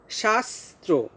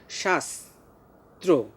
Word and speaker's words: শাস্ত্র: এখানেও দুইটা স আছে, দেখো শাস্ত্র, শ্বাস যে আমরা বলছি, পরের শটা কিন্তু আমরা তালব্যস্বর উচ্চারণ করছি না, আমরা দন্তস্বয়ের মতো উচ্চারণ করছি, শাস্ত্র।